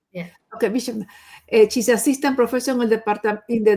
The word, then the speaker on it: Viswanath: Shilpa, doctor, you will make me how you pronounce your last name, doctor? Oh, you said it right. Vishwanath. Yeah. Okay, Vishwanath.